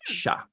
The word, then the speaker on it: chat: Unless it's a female cat, then it's pronounced chat. You actually pronounce the T. It's female. If it's male, it's sha.